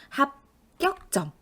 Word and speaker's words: 합격점: 쓴 것 같거든요 하지만 합격점 합이라는 말 받침 보세요 비읍이라 된 소리로 만들어요 그러니 합격 에다가 격의 받침 기억이 다음에 오는 지은을 또 된 소리로 만들죠 그래서 뒤에 오는